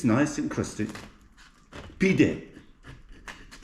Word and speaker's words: pide: Pide, the way to speak in Turkish.